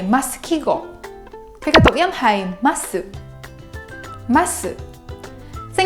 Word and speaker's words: 〼: is called “枡記号” (Masukigou) The symbol is pronounced as “masu” It represents “ます” (masu),